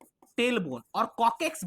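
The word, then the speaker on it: coccyx: Tail bone और कॉकेक्स भी कहते हैं। याद रखिएगा। कॉकेक्स यही स्पेलिंग है। सी O double C वाई एक्स कॉकेक्स बोलते हैं।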